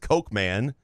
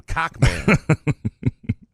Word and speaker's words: Coachman: The name was Cockman, or Coachman, pronounced Cokeman. I call him Cockman.